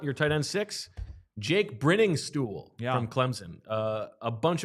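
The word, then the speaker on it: Briningstool: tight end six Jake brinning stool from Clemson uh a bunch of red flags on the profile starting with the fact that it's pronounced brinning stool even though there's one n i mean it's very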